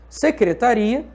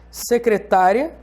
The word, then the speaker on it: secretária: Secretária, que é diferente de secretaria.